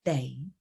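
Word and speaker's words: 哋: it we or us just add the day it's your sixth low tone flat tone day so monday yeah that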